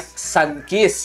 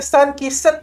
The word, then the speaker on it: Sunkiss: Namanya Sunkiss. Oh, sun kiss. Sun matahari. Bukannya sun kisset gitu, kisset. Kiss. Atau ya, penyeluruh. Dia punya pronunciation kiss.